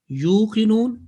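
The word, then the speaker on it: يُوقِنُونَ: Yuqinun and yu'minun is a lot of difference between the two. You without any jerk, simple elongation, yuqinun.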